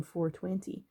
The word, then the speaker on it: 420: cannabis culture the term 420 pronounced like the clock time 4 20.